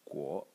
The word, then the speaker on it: 果: the character that you can see over here, pronounced guo, and it means fruit.